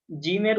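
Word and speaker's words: ج: বা তা হা জিম জিমের উচ্চারণটা স্বাভাবিকভাবে হয় না একটু জোর দিয়ে উচ্চারণ করতে হয় জিমের উপর একটু প্রেসার লাগে জিম এভাবে জিম তারপরে আছে হা খ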